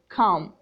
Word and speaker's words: comb: Let's start with silent B, like come. Come. B is silent.